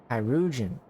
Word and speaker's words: Chirurgeon: Chirurgeon.